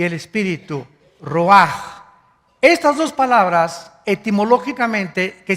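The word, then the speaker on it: רוח: Que se escribe r u a c h, ruaj, en el hebreo. Y se pronuncia igual, ruaj.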